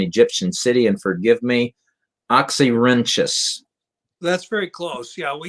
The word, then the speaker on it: Oxyrhynchus: And forgive me, Oxyrhynchus. That's very close. Yeah, we usually pronounce it Oxyrhynchus.